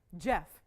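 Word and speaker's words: Geoff: issues with pronunciation whatsoever jeff unless it was spelled g-e-o-f-f sometimes those that that might toss that might like really throw you okay so here we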